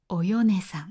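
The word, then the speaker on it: お米さん: 米という字は名前に使うときはよくよねと読みます。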